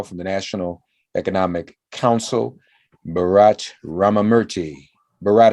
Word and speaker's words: Bharat: Joining us now from the National Economic Council, Bharat Ramamurti. Bharat, how are you, sir? I'm doing very well, thank you. Did I pronounce your name correctly? That was great. Bharat rhymes with Barack.